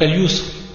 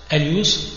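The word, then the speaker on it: اليسر: Donc al-yusr bil-ya, wa al-usr bil-ayn. Et le reste, c'est la même prononciation, al-yusr wa al-usr.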